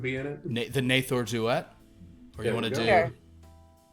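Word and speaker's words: Duette: D-U-E-T-T-E? Duet. It sounds pretty. I get it. All right. But it's pronounced. I believe in the local tongue though, it's pronounced Duet.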